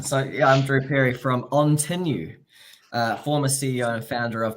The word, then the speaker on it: Ontinue: founder of Tiberia but on tenu is how you say that name yes there is a lot of confusion out there but we can debate it all day but there is one way to say that yes we only have